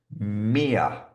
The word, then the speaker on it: mere: This one is pronounced mere. So, a bit like here.